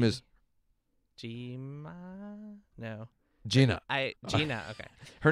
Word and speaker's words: Gina: Gina.